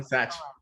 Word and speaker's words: Satch: So, Satch, you're one of the. Am I pronouncing your name right? Yeah. You got it, man. Satch.